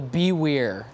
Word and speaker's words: BWER: you hear it sometimes Beware of the bewear that's kind of the whole reason that we say it like this and it has to